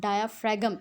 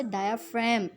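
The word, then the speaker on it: diaphragm: This not अ डायाफ्रैगम, इट्स अ डायाफ्राम, ji silent है इसमें.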